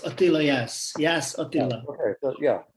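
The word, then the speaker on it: Jász: It's Attila Yas.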